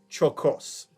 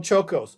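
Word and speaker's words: Czolgosz: inspires a steelworker named Leon, I got to pronounce this correctly, Leon Chocos.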